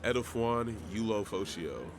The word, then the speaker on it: Edefuan Ulofoshio: Edefuan Ulofoshio.